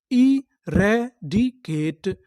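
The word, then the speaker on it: eradicate: यहां पर पढ़ेंगे के, टी ई टा, क्योंकि यहां पर आखिरी में ई है, हमें ई का उच्चारण नहीं करना। तो पूरी मीनिंग क्या बनी? इरेडिकेट, इरेडिकेट, इरेडिकेट।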